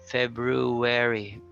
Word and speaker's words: February: Okay, then we have February without the R or with it. February. What's important is at the end you say wary.